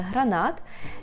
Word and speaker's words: гранат: буде гранат гранат теж Зверніть увагу на наголос - це гранат і остання Трійця -